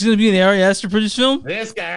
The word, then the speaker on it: Ari Aster: Man, I'm gonna say this dude's name wrong. Ari Easter. Ari Aster.